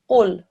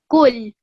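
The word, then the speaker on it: قل: So your pronunciation was fine, but what you did as you read was that you dragged the lam sound out. You went, qul. You spent too long on it, okay?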